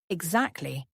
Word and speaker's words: exactly: Pronunciation exactly has the stress on the second syllable. X actly. Listen one more time. I'm not sure I follow. What exactly do you mean?